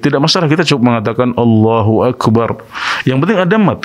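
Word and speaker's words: الله أكبر: yang penting ada Mad karena Allah itu memang orang Arab membacanya allahuakbar ada Mad Thobi'i nya disitu ya Allahu akbar jadi saat lemnya kita membaca lem ini maka harus ada Mad yang mungkin sebagian Imam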